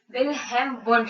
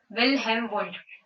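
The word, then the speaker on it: Wilhelm Wundt: विलहेम वुंड, पहले तो उनका नाम सही से प्रोनाउंस करो। विलहेम वुंड, विलहेम वुंड।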